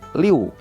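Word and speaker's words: 刘: Selain itu yang kedua adalah karena cara membacanya bukan murni liu, L-I-U bukan, tapi cara bacanya secara lisan adalah L-I-O-U, di mana ada huruf O nyempil sedikit di antara I dan U. Jadi cara bacanya liu, bukannya liu.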